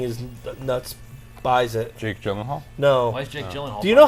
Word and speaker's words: Gyllenhaal: whatever Jake something is nuts buys it Jake Gyllenhaal no do you know how to say his